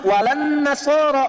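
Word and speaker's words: ولا النصارى: Tapi Nasrani pakai la. Cuman kita bacanya pakai kan alif lamnya syamsiyah tuh. Ya, lamnya masuk ke nun. Walan nasara. Padahal itu tulisannya la. Wala an nasara.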